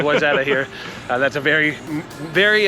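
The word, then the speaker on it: Wayzata: comma wetta which by the way it's not way so if you're looking at it on a map you're welcome it's called wetta here that's a very very uh unexpected way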